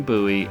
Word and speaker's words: Bowie: knives made popular by the legend of Jim Bowie and the sandbar fight in notches Louisiana and